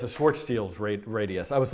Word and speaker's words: Schwarzschild: I'm sorry it's a Schwartz teals rate radius I was like trying to think how do you pronounce that it's like spelled Schwarzschild but I think is Schwartz yield it's very hard to